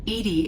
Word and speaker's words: EDI: are you named Edie Edie is the phonetic pronunciation of EDI that is an acronym for enhanced Defense Intelligence what do you do